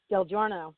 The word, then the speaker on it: Del Giorno: Is it Del Giorno? Del Giorno, yes.